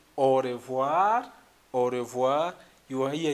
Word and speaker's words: au revoir: I will remind you again because of the pronunciation issue. So you have to say au revoir, au revoir.